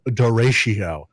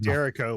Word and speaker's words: derecho: When the garage gets rebuilt because of the derecho. Dorito. We called it Derico when it hit us in Wisconsin last year. You guys mispronounce shit all the time.